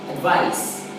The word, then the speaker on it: advice: Okay, so we pronounce this word, advice, spelled with letter C as advice.